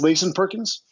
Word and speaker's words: Layson Perkins: Is it pronounced Layson Perkins?